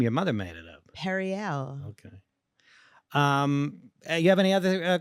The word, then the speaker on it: Periel: Well, you pronounced my name weird too just now. Periel? Yeah. Oh, emphasis on the wrong syllable. That's not even a real name. Your mother made it up. Periel.